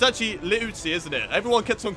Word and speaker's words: Liuzzi: Not only did I get his first name wrong, I used to also say his last name wrong, but it's Liuzzi, I believe. Liuzzi.